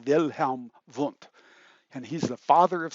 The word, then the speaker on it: Wilhelm Wundt: and I'll say that you'll say Wilhelm Wundt, but actually the German pronunciation of his name is Wilhelm Wundt.